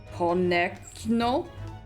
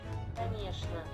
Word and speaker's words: Конечно: How do you pronounce this? Konekno? Конечно. Конечно? Конечно. Конечно. Конечно. Конечно. Yeah, nothing about what I'm seeing looks like it would be pronounced Конечно. It looks like Kohei-ho.